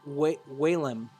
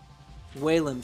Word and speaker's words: Whalem: It's pronounced Whalem. Whalem, thank you.